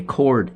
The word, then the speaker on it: chord: Now we need to know what a chord is. And that's spelled C-H-O-R-D. It's not chord like tying somebody up with a rope, okay?